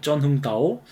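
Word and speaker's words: Trần Hưng Đạo: 있죠.요 쩐흥다우라고 쓴 겁니다.이 트란이라고 읽으면 안 됩니다. 베트남식 알파벳은 이게 쩐입니다. 쩐흥다오.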